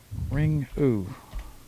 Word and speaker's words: Ringu: Now, it's spelled ring with a U on the end. Yeah. Ringu. Okay. Ringoo.